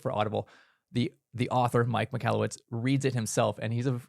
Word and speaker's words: Michalowicz: Okay, Michalowicz.